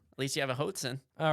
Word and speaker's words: Hoatzin: So it's literally spelled like goat with an H. Yep. Hoat. Okay. And then Zin. Z-I-N. Hoatzin.